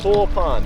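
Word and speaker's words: Hoel Pond: Hole Pond. Just like my brother's name, Joel, it's Hole. Spelled the same way, but with an H.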